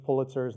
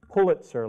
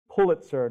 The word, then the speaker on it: Pulitzer: the pronunciation of Joseph Pulitzer's name. It's Pulitzer, like, sir, can you pull it? Though that's not something you want to be saying to a lot of sirs walking around, but it's Pulitzer, not Pulitzer, which is what many people say.